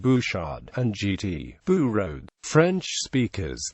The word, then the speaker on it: Bouchard: Such names may be mispronounced by non-French speakers, for instance the R sound and silent D of Bouchard and GT, Bourode.